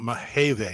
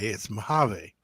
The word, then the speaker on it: Mojave: Yeah, but it's not Mahave. It's Mojave.